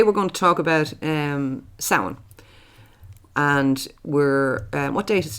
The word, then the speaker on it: Samhain: pronounce the word Samhain as Samhain. That's not right. No, it's Samhain. It's basically Samhain.